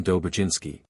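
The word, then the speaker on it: Dobrzyński: or French J thus the proper name of dobrinski is pronounced as if written Dober jinsky SC ccz is pronounced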